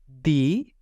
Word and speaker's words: di: ठीक है ची ी दी दी इसको डी नहीं पढ़ेंगे दी पढ़ेंगे जिस तरह इंग्लिश का